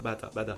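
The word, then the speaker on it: 바다: The sea is prononced "bata" because... "BaTa" ? BaDa" ?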